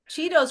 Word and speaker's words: Cheetos: Cheetos rhymes with mosquitoes.